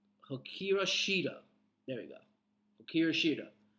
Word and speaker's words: Hikaru Shida: I cannot pronounce her name. Hikaru Shida.